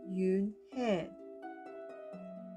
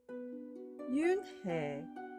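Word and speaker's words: Unhei: turned to Joey she nodded slowly yes it's pronounced Yoon head and it means Grace Mr Kim added Yoon hey Joey says slowly and this time perfectly it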